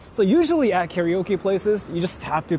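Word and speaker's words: カラオケ: Why are you pronouncing it like an American? That's just my bad freaking habit there now. Karaoke. I'm sorry. That's actually my bad habit here. Like I started making fun of it, and then I say it like that too now.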